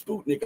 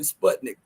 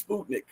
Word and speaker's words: Sputnik: interviewed by Sputnik news I finally uh realized the proper way to pronounce it is Sputnik I'm sorry all the times I've said Sputnik but it's Sputnik okay um and I